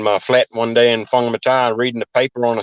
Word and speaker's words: Whangamata: But New Zealand, you're from a place called Whangamata. Is that That's how you correct. pronounce Yep. it? Sure. Yeah. Yeah. I left school in Whangamata there and started at Whangamata Panel and Paint